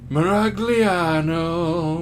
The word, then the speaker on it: Miragliano: Miragliano, Miragliano, it rhymes with piano, but why I don't know.